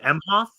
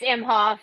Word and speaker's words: Emhoff: Emhoff. And Yeah, I think it's Imhoff.